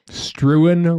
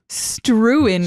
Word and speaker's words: Struan: that's a good start now I'm in trouble struan Roger struin strin Please spell that for r u u a n Roger